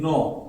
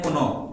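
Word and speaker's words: know: के एन ओ डब्ल्यू बहुत लोग पढ़ते हैं कुनो कोनो नहीं पढ़ना है आपको क्या पढ़ना है नो है ना एन एन ओ याद रखिएगा क्या साउंड निकालना है आपको एन ओ नो फिर यहां पे भी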